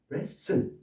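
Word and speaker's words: wrestle: 그다음 레슨 w 여기에서 W가 발음이 안 됐나 했는데 여기는 또 하나 묵음이 또 있습니다. T가 발음이 안 되죠. 언젠가 또이 티금 티도 바로 정리를 해 드리겠습니다만는 레슬 레슬 씨름 레슬 맛부터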